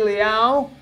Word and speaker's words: Liao: I'm with Leslie Liao. Pronouncing that properly? Correct. Yay. Like hit me. Meow. Hit me. Like meow.